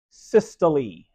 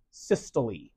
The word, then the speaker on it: systole: When the cardiac muscle contracts, we give it a word, which is that one, pronounced systole. Pronounce the E at the end. So it's pronounced systole.